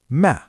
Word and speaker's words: Mä: Mina becomes ma. Olen becomes on.